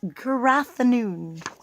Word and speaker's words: Gwragedd Annwn: this page to remember how this thing is pronounced it's gathoon so the gathoon in